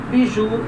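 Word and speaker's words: bijoux: Pronúncia igual, biju, singular, biju, plural. Esse X ele é mudo, Ele segue aquela regra geral de pronúncia em que a consoante no final da palavra é muda, não se pronuncia.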